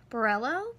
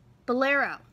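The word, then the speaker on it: Burrelo: have known for years it's a burello for bolero that's how you say it I didn't know how to say it when I was younger it's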